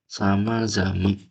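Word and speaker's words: 様々: Ada lagi bermacam-macam guys itu tuh sama zaman. Ini kanji sama ya. Kanji sama. Misal tanka sama gitu. Ini kan sama karena ada ininya berarti belakangnya dikasih tenten. Jadinya samazama. Oke.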